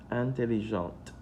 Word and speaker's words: intelligente: Intelligente. Sometimes the pronunciation changes. For example, this is intelligent, intelligent, intelligente. Les filles intelligentes.